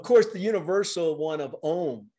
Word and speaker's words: Om: the sound Om, and typically pronounced in Sanskrit A-U-M, Aum, because it's said Om? To, say that again. Om, A-U-M. Oh, Om, Aum, Om. Om. Yeah, so typically spelt in the transliteration as A-U-M or O-M, because it's considered